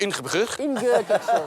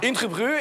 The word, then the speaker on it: Ingeborg: Après la mort de sa première épouse, ok, Philippe Auguste se marie en 1193 avec Ingeborg, princesse du Danemark. En danois, ça se prononce Ingeborg. Ingeborg.